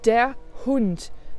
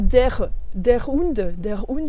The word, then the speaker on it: der Hund: Attention, dans der Hund, tu as bien vu la prononciation du R, dont je t'ai déjà parlé aussi. C'est pas der Hund, ça fait super français. Der Hund. Der Hund. On fait une petite coupure juste avant le H.